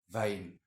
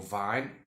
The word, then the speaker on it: Vine: Aista nas vein calares vein. Like I say, you can pronounce it vein or vine. It's actually fine.